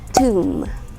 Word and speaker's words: tomb: but it's tricky actually i hear some people say it is tomb but no we don't say it as tomb it is pronounced as tomb tomb sayeth so tomb is